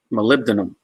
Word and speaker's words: molybdenum: then de and um and to learn to spell it you would say Molly B denim Molly B denim but a pronunciation is molybdenum so just kind of one of